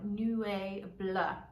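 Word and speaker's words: Nuée Bleue: So it's spelled N-U-E-E and then Bleu as in Bleu de Chanel, Nuee Bleue.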